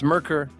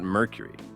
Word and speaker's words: Merkur: Buyers had to explain, "It's Merkur, not Mercury. They're not the same thing."